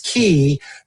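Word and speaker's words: quay: And it's key because um it brings your troubles to C. Key rhymes with C.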